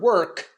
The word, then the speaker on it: work: so important now so for the word work I need a k sound and for service I